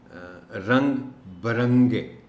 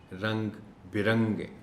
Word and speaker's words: رنگ برنگے: جو رنگ برنگے ہے، اس کو عام طور پر لوگ پڑھتے ہیں رنگ برنگے، یعنی بے کے اوپر زبر کے ساتھ، جبکہ درست تلفظ اس کا ہے بے کے نیچے زیر اور پڑھا جائے گا رنگ برنگے، برنگے نہیں، رنگ برنگے۔ اس کے علاوہ کوشش